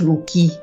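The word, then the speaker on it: Wluiki: de l'fcadi l qui on prononce l qui le W et le i se font à peine sentir habite encore au 12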